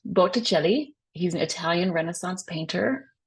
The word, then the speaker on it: Botticelli: um for October Sandro belli um so it's pronounced belli he's an Italian Renaissance painter um he's actually